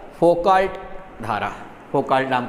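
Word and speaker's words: Foucault: और भंवर धारा या कुछ बुक्स में फोकाल्ट धारा ये भी कहा गया, कुछ में फोको धारा कहा गया है, एल का प्रोनाउंस नहीं किया है, ठीक है।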